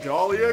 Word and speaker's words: Dahlia: didn't say it wrong it's not Dolly it's Dahlia Gillespie yeah full name Koa